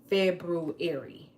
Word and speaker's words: February: February.